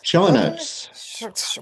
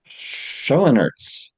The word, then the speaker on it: Schoenaerts: Matias Scosen. Shonarts. What is it? Shenertz.